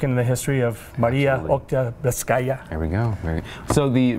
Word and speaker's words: Oktyabrskaya: Oktyabrskaya. Nope. Oktyabrskaya.